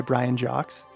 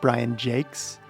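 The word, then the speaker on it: Brian Jacques: have Red Wall by Brian Jocks, J A C q Us, and being told by the clerk it's pronounced Brian Jakes and thinking this guy is a stupid American.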